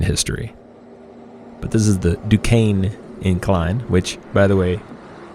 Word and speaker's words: Duquesne: But this is the Duquesne Incline, which, by the way, D-U-Q-U-E-S-N-E is Duquesne, as I learned.